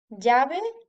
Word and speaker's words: llave: A la derecha, la L doblada se pronunciaría similar a la J en la palabra inglesa joke. Ejemplos: llave y lluvia.